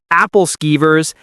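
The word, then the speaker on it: Æbleskiver: A Hans Christian Andersen museum, bakeries selling Abelskiver, round pancake balls older Americans pronounce Appelskivers, and that's fine.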